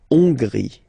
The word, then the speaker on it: Hongrie: So remember, H doesn't exist, so you don't pronounce it. So it starts with on, and then gris. Final not pronounced. La Hongrie.